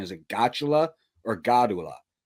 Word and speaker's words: Gottula: I'm not sure how to pronounce his last name. Is it Gotula or Godula? It's Gottula.